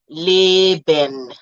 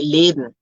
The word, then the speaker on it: Leben: The same thing happens to the E before the N at the end of the word, generally, okay? You don't say Leben like that. You say Leben, Zen, geben, and that